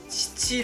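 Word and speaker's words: 七: 이 단어는 " 시치 " 로 만 발음 되고 " 시츠 " 로 는 발음 되는 경우 가 없기 때문 에 따로 살펴볼 필요 가 없었습니다 .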